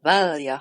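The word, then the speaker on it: Valya: to give you recordings of how I would pronounce a certain family names in the Dune series. So we have Valja Harkonnen, we have Tuula Harkonnen, and we have Harro Harkonnen.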